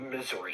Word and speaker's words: Missouri: I get Missouri for some reason mixed up with Wisconsin. I don't know why, but anyway, Missouri. They call it misery here. How do you say it? They say it's misery.